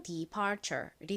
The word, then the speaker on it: departure: 그리고 덩어리 철자 T-U-R-E 정말 중요한 자주 쓰이는 덩어리 철자인데요. 무슨 소리 나나요? cher 소리 납니다. 그래서 연결하면 departure이 되죠.